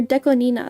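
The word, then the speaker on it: DECO*27: Deco 27 or Deco Nina. That's actually how you say it, fun fact. It's Japanese. 2 is ni in Japanese, and Nana is 7. So Nina.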